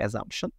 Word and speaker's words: assumption: Assumption বা assumption, যেটাই বলি আমরা, অথবা assumption, yep, assumption, আমরা বেশিরভাগ ক্ষেত্রে বলে থাকি assumption।